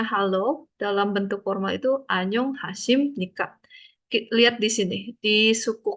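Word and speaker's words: 안녕하십니까: Tulisannya B tapi bacanya sim. Ya. SIM M. SIM. Kenapa? Ee kalau si B ini B-nya ada di bawah ketemu lanjutannya N bacanya jadi B-nya jadi M. Tulisnya betul B tapi bacanya jadi M.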